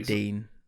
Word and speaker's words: Digne: How do you pronounce his name? I always get it wrong. I think it's Digne. Digne. Some people say Dean.